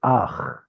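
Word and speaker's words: אך: This is Ach. There's no E sound at the end. This is just a Oh, just silent vowel.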